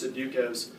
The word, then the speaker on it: Sudoku: What I do when I do is Sudokus, because my 7s and 1s starts all look alike.